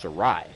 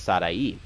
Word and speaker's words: Sarai: i was like yo is your name pronounced sari like is that how you pronounce she goes no um it's sadai and it took me